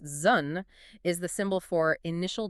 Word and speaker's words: Zhun: And hexagram 3, which is pronounced Zhun, is the symbol for initial difficulty.